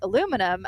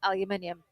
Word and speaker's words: aluminium: then you saw the aluminum and you were like what do you call that and I was like aluminium because we spell it different and you were like oh really that sounds just like me.